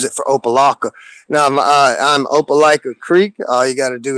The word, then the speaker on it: Opelika Creek: Now, I'm Opelika Creek. All you got to do is hit that @ button. O P is a paw, ELIKA CREEK. Opelika Creek.